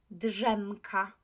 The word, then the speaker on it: drzemka: D is voiced. AZ is voiced. So think about how we pronounce this one. Drzemka, drzemka. If you pronounced it in this way, you were right. So drzemka, drzemka. Again, let's look at this word.